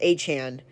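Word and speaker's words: Etienne: It's pronounced Achan.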